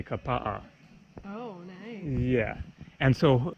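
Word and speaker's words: Kapaʻa: words written out then you're supposed to pronounce all of the vowels and so for example the town it spelled ka PA a you don't say Kappa you say Kappa yeah and so it's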